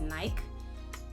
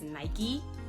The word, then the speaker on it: Nike: difficult to unlearn because I feel like everyone pronounces it as Nike, and it's very rare to bump into people that pronounce it as Nike.